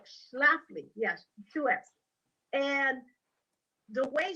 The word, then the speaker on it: Schlafly: to me was mrs shifley you know phyllis scheffly yeah i remember exactly thank you yeah that was one of the things you wrote kept mispronouncing her name yeah phyllis shaffley uh schlafly yes 2x and the